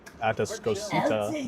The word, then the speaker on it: Atascocita: Well played by Atascocita, which is how you pronounce that.